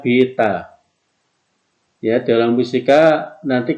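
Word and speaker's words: beta: antara C dengan eksitu namanya Vita ini bacanya Bita Oh ya dalam fisika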